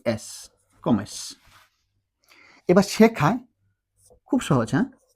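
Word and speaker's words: come: কম সাথে কি যুক্ত করবো আমরা ই এস কমেস এবার শেখায় খুব সহজ ক যুক্ত করলাম আমরা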